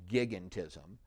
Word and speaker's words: gigantism: It looks like giantism, but it's actually pronounced gigantism.